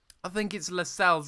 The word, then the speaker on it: Lascelles: I think it's Lascelles. I think that's how you say his name. And it's actually a silent C, so you don't actually pronounce the C.